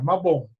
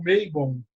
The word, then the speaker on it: Mabon: Mabon, Mabon em galês, e a pronúncia é essa, Mabon. Mabon mesmo. Mabon mesmo. É, como diz um amigo meu do país de Gales, que muitas vezes as pessoas da Inglaterra ou de outros lugares pronunciam Maybon, né? Um amigo meu do país de Gales, ele diz: Mabon só é Maybon na boca de um saxão.